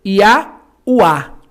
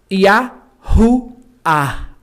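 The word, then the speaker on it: יהוה: Não é como no português que é mudo. Senão você ia ler Ia-Ua. Não é Ia-Ua. Ok? Esse H aqui tem um som aspirado leve que é Yahuá.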